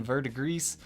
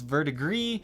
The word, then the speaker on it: verdigris: to actually pronounce that I'm going with the Google pronunciation verdigris some people think it's vert agree some people think it's pronounced the way it looks vert aggressed so it just seems